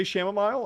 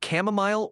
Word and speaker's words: chamomile: But again, how do you say shamomile? I said it like that. Shamomile. Ask Spiffy to pronounce shamomile. Sure. Spiffy, can you pronounce shamomile? Sure thing. It's pronounced chamomile or chamomile depending on where you're from.